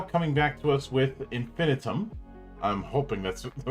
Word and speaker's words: Infinitum: correct me the uh it is actually infinitum yep yeah infin item I kind of figured it was one or the other the one and only